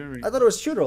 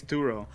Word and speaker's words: Turo: I thought it was We Churro. already knew that. I thought we saw. No. No. That was the close character. She pronounced it like churro though, Oh, okay. I got. but it's Turo Okay, yeah.